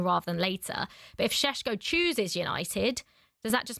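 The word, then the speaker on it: Šeško: Benjamin Shesho from RB Leipzig after trying to hijack their deal.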